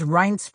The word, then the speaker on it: Reince: every single day of reince priebus's life when he's been introduced to someone he has had to spend five minutes saying no it's pronounced rhinestone no my parents didn't